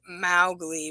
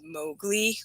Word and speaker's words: Mowgli: So this is the front page, and it says, now the other question is, I pronounced it Mowgli, but I'm pretty sure it's Mowgli with a long O.